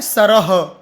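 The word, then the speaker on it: सरः: करना है बुद्धि है ना अ है सरह तो अ का उच्चारण करना है सरह जो भी मात्रा होगी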